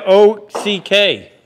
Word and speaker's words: Ock: What's the O-C-K? Ork. What's his nickname? Short abbreviation for my last name. Okay. Pronounced? Ock.